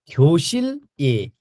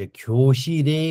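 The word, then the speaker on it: 교실에: मा, कक्षा कोठा मा, यसको उच्चारण ख्योसिल ए नगरिकन ल चाहिँ यताबाट, ल चाहिँ यहाँबाट पढ्नुहोस् त, ल चाहिँ यहाँबाट यता गएर रे भइन्छ, ख्योसी रे हुन्छ यसको उच्चारण गर्दा, ख्योसी रे।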